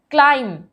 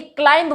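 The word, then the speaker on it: climb: क्लाइम, अब देखिए क्लाइंब बोलते हैं, क्लाइंब नहीं होता, इट्स क्लाइम, तो बी नहीं प्रोनाउंस होता यहाँ पर।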